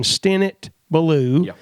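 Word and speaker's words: Stinnett Ballew: is to go on Sermon Audio, type in Stennett Ballou, and that is spelled Stinnett, Stennett Ballou.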